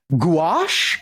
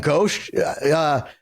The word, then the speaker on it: gouache: She painted in watercolor and gouache, if that's how you say it.